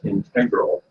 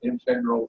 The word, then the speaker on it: integral: So I've got, this is only volume 1, volume of the shorter Oxford English Dictionary, and actually it gives both pronunciations, integral and integral.